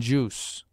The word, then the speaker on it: juice: Quest quit quite languish sometimes in UI the I loses its sound as in juice it is sometimes mute